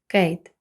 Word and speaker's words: Kate: речення Kate is Wing Kate як бачимо відкритий склад на кінці є голосна і але вона не вимовляється і перед нею голосна буде читатися як в алфавіті a тому виходить Kate